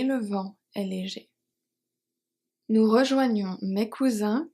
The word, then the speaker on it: rejoignons: Rejoignons, the S is silent.